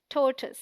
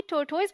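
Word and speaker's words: tortoise: बोलते ही नहीं है यह रंग प्रनंसीएशन है टी ओ आर इस D stressed rhyming with more T ओ आई एस C sound like to N short you sound so D right pronunciation इस टोटल क्या आप भी तोड़तोइज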